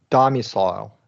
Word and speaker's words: domicile: 3-syllable words use the long I. That use the long I have primary stress on the first syllable and secondary stress on the ILE syllable. So this middle syllable is unstressed if there's 3 syllables.